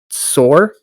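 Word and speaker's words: צור: upon the king of Tyre, or I guess that's pronounced Sor, and say unto him,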